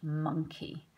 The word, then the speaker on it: monkey: Okay, so here we have a picture of a cheeky monkey.